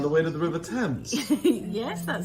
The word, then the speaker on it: Thames: On the River Thames.